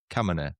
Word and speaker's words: Khamenei: Khamenei, okay.